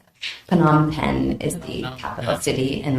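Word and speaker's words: Phnom Penh: took me a while to learn if to spell that correctly PanAm pen is the capital city and that's where the US Embassy is located in the capital city of PanAm pen Cambodia uh so FBI Dallas contacts you and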